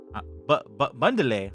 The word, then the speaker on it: Bandele: What is going on, Bandele? Bundele. I don't know what Bundele is. Bundele. That's how you pronounce my last name.